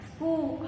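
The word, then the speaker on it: school: स्कूल, H का sound you कैन से क्या पे साइलेंट साउंड, स्कूल, ह बीच में नहीं बोलते, स्कूल नहीं बोलते, वी से स्कूल।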